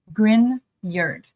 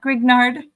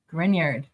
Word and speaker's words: Grignard: friends to pronounce it is the grard reaction grard not grignard grard and uh I see